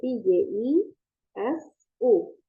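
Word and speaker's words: Jisoo: o o o o itu dibacanya u kalau di koreaambil jadi jisuk jadi jisu pakai I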